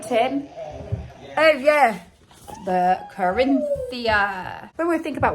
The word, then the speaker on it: Corinthia: The Corinthia.